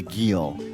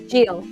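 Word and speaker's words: gyil: process of creating the Gill am I pronouncing not right Jill it's called yeah I could hear oh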